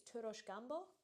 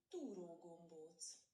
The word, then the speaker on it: túró gombóc: And he suggested I get I think it's Turos Gumbo. Let me just quickly do a pronunciation check on that one. Túró gombóc. Túró Gumbo, so I was completely off.